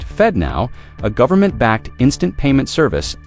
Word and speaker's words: FedNow: On the other, their SFD now, pronounced Fed Now, a governmentbacked instant payment service operated by the Federal Reserve itself.